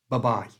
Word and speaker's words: bye-bye: suitable for adults by changing the I, which is the vowel sound in bye, to the schwa sound. That's that little sound. It's the most common sound in English. There's a detailed lesson on this on the site, but briefly, it's just a little sound. So bye becomes b. The whole thing, bye. You try. Bye. And to say it correctly and naturally, squash it all together and it becomes like a machine gun.